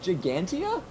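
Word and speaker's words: Ggantija: of oh boy what it's just gigantia then why is it spelled like that we'll double back to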